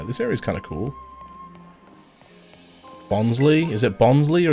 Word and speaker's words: Bonsly: Bonsly? Is it Bonsly or is it Bonsly? I just think it's meant to be pronounced like bonsai.